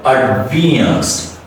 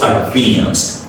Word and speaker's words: advanced: Advanced. So the first A is reduced, the next A is stretched, and the last E is also reduced and a schwa sound.